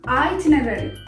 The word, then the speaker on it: itinerary: Just like the spelling of the word, it should be pronounced as itinerary. Itinerary.